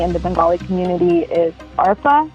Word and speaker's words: Arpa: So that name that everyone calls me in the Bengali community is Arpa. It's spelled ARPA. So that's my other name. Arpa, almost like ARP, but yeah.